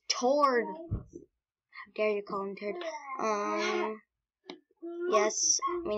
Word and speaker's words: Tord: and I got a gets a her it's pronounced toward there you conquered yes we need sands and